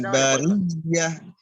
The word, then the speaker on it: البرية: Ditekan bariyah. Ya, itu tasdid. Ditekan bariyah.